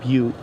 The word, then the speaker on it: Butte: It's actually called Butte, but when you put the street sign Butte on top of the street sign Inyo, it's no longer pronounced Butte, and I pronounce it Butt.